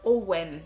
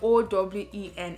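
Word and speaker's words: Eoin: It's pronounced Owen. It's the way we spell O-W-E-N in Nigeria.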